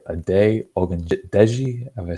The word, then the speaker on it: Ogundeji: A day, Ogundeji, have I said it right? But pretty good. It's like 98% there. So. Okay, Ogundeji, like, I thought he was a standout against the Jaguars against the run.